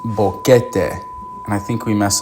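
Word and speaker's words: Boquete: So, first one is Bokeet, Panama, which surprised me. I've heard a lot about Panama. Sorry, we messed this up. It's pronounced Bokeete, and I think we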